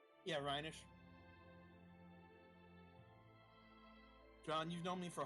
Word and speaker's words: Rhenish: Rhinish? Yeah, Rhenish.